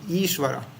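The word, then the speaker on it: ईश्वर: example um ishwar yeah iswar is not is not very short actually it's long iswar iswar yeah and U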